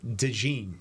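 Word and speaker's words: DeJean: Iowa Athletic Department website the pronunciation is Cooper deene de de so it's de like you've got a little bit of a Jay in there but you kind of roll over Cooper Dee does the injury matter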